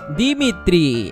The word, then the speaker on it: Dimitri: Dimitri, así se pronuncia.